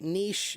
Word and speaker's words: niche: Like the word niche. Niche is Niche, and lots of people will say niche.